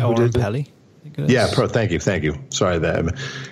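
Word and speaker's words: Oren Peli: He goes, "Yo, I think his name is Orin Perel. Is that how you say his name? Orin Pelly?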